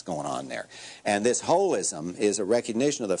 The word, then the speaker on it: holism: And that's, we pronounce it H-O-L-I-S-M, holism, but that's just because it's too hard to say holism.